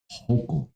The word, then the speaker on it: Hochul: this too, and I'm a big fan of Hochul. Hochul? You pronounced your name right. Congratulations. I did. Good for you. Hochul.